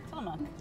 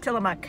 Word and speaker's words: Tillamook: Tillamook. Tillamook, she says.